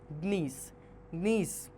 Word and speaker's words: gneiss: Gneiss pronounced as nice is formed from granite.